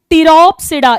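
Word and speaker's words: Pteropsida: Now next लिखो, टिरोप्सिडा। इसमें भी पी साइलेंट है।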